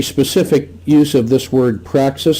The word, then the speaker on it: praxis: use of this word Praxis spelled with an x-p-r-a-x-i-s and it sounds like the word practice and it's related to